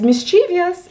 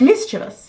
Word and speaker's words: mischievous: dous or mis dous oh like mischievous sort of which so many people mispronounce as mischievous it's wrong children it's mischievous we got a little